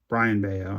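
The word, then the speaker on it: Brayan Bello: This is a color match red socks a brand beo Brian Beao I think is how you say it even though it's spelled Brian but it's a four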